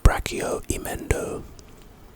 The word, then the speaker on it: Brachium Emendo: The next spell is Brachio Emendo. Pronunciation, Brachium Emendo.